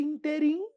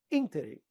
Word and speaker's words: ínterim: É a palavra ínterim. pessoal fala assim, nesse interim eu estudei para a Câmara dos Deputados. Nesse interim? Interim é o mineiro dizendo que comeu tudo. Eu comi o queijo interim. Pessoal, é interim.